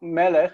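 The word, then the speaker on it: מלך: which means the accents on the first syllable. Yeah. So Melech, if you see down here, Melech. Melech is a segolet noun.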